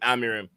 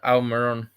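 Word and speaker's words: Amorim: You said Almiron. No, Amirim. See, that's when Amirim. you said it right. Before that, you said Almiron, which is why it confused me on what I was saying.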